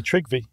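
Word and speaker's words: Tryggvi: He had a grandson, and I have no idea how to pronounce this. Trygvi. I'm not big on my Norwegian. It's really Trygvi.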